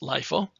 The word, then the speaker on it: LIFO: The data structure is known as LIFO data structure, which is pronounced as L-I-E-F-O-E, which is LIFO.